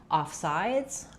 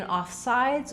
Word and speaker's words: offsides: In offsides, we stress on sides. It's going to be longer.